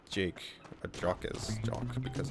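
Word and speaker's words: Jacques: Because, there's this author whose name is Brian Jock. Or Brian Jocks, is it? Fuck, I haven't said his name in forever. But it's spelled like that. But it says, he says to pronounce it like Jake.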